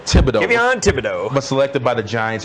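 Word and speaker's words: Thibodeaux: And then for the 5th overall pick, Kayvon, I always get his last name wrong. Please help me out. Thibodeau. Kayvon Thibodeau.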